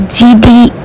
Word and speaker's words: Gedee: inside and explore what all are there it's pronounced as gd car museum because of its founder চলুন এই